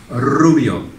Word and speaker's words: rubio: Rubio. Rubio. Rubio. Rubio. Rubio. It's just those R's. Okay. It's the R. Yeah. You've got to roll your R's.